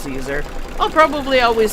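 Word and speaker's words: Siser: um Caesar it looks the word looks like Sizer but apparently it's pronounced Caesar I'll probably always say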